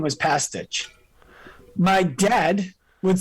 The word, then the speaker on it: Pastuch: So I give them ID, and the woman says, "Oh, a Pastuch." I said, "No, it's actually pronounced Pastuch."